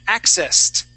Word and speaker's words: accessed: accessed yeah yeah good so it's accessed accessed great job yes that is a t sound all right let's do